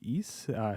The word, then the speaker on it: Ys: It's pronounced Ys. Yeah, so kind of like Moog, or you know how that meme goes.